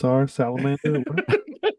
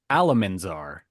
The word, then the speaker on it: Alamanzar: Well, let's check on salamander. It's okay, Oliver, because I said it wrong. It was actually Alamanzar. Alamanzar.